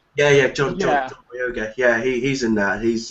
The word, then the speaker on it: Boyega: Yeah, John Boyega.